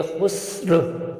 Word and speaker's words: خسر: و زرین وقت کی وجہ سے یہ ساکن ہو جائے گا، تو یہ خسر، خسر۔ رومن میں بھی بالکل